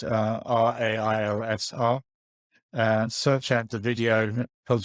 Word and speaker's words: Railsr: It's Railsr. Search out the video. Told you how to pronounce it.